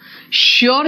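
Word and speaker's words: sure: यस, श्योर का एस H pronunciation होता है बेटा, श्योर जो है ना उसका भी प्रोनाउंसिएशन शू निकलता है ना, आर यू श्योर।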